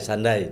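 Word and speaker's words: Sunday: Sunda itu Sunda lens dunia. Sunda itu dunia. Dunia. Iya. Makanya ada hari Sunda. Sundai. Sandai dibaca. Oke oke oke. Saya baru tahu. Sunda. Sundai sandai bacanya.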